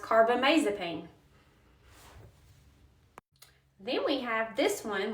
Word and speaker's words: carbamazepine: This drug is generic for Tegretol, and it is pronounced carbamazepine.